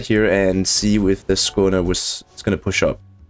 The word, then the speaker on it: Skåne: If you were wondering how to pronounce that, it is the A with a dot over it is actually pronounced like an O sound.